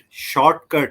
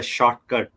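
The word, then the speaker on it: Shotcut: easy it is i i was pronouncing it shortcut you know but actually is a shortcut not no r actually it's a shortcut to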